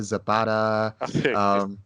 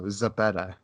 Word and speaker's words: Zepeda: But just like it's just really funny because like a lot of people mispronounce my last name. They say Zepeda, Zapata. I'm like, no, Zepeda.